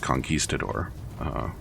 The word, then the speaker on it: conquistador: He was a conquistador, I believe. It's pronounced conquistador.